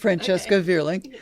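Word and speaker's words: Francesca Vierling: Am I pronouncing that? Yes, correct? Francesca Verling.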